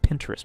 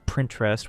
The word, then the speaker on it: Pinterest: In one instance, he claimed he didn't even know what Pinterest was, mispronouncing it as Printrest while visibly holding back laughter, making it obvious he was trolling.